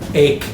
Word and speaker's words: ache: Rhymes with these. Ache, Cake. cake, Bake. Bake. Bake. cake, ache, bake. This one. The CH is tricky. Doesn't sound like cheese.